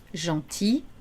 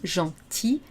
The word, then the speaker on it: gentil: Gentil, attention, on ne prononce pas le L au masculin. Gentil, gentil, gentiment.